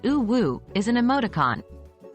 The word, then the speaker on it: UwU: world of Internet slang uwu pronounced oo Woo is an emoticon it's